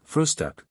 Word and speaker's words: Frühstück: word breakfast, but always call it frühstück with a special emphasis on the first syllable.